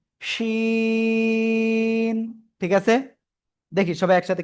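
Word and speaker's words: شين: জিহ্বার মধ্যখান তার বরাবর উপরে তালুর সাথে লাগিয়ে শা শা শব্দ করে আমরা এই অক্ষরটা উচ্চারণ করব। তিন আলিফটা নিয়া শিন, শিন।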